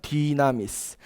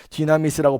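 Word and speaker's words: δύναμις: 디나미스. 디나미스라고 발음하는데요.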